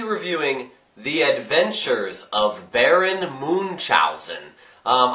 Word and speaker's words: Munchausen: the adventures of Baron Moon chowen um I hope I'm pronouncing that right uh some people say munchow or main chowen or munchin on things but I say The Adventures of Baron Moon chalon uh 1988 it's PG